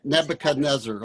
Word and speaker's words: Nebuchadnezzar: After how do you pronounce it? Nebuchadnezzar.